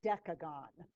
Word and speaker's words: decagon: one gonna be your we pronounce it decagon like decade december i know but that's because of the letter that comes next with the c with the e after the c in december what about twelve what